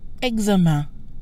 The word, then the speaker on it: examen: The en sounds like an, another nasal sound usually associated with combinations like in, ain, ein, etc. So test is pronounced examen with a nasal sound an.